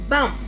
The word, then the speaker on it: bomb: So, we said it is bomb not bomb.